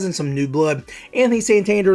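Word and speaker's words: Santander: to say is Anthony sander apparently he changed the way he pronounced his name to sandir that might be a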